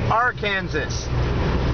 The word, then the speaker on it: Arkansas: Let's pronounce it properly. Arkansas.